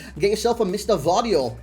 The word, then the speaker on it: Gvardiol: get yourself a mr vario i hope you pronounce his name vario otherwise i'm a bit of an idiot i reckon that's a silent g i reckon it's a